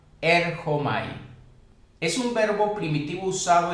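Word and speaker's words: ἔρχομαι: griego llamado erchomai, y según el Strong se pronunciaría con J, erchomai.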